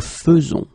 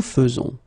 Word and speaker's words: faisons: a surprise, but then the most difficult thing that you should keep in mind is the way you will pronounce it, because you don't pronounce it E as normally you should, but you will pronounce it like E. Nous faisons, okay, it's really f, f, f, nous faisons, okay, you see it